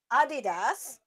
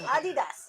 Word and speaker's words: Adidas: It's German, and that's how you say it. It's Adidas. It's Adidas. Adidas. Yes, it's not Adidas, Adidas. or- Like us Americans call it Adidas. No, it is not Adidas. Adidas. It is Adidas.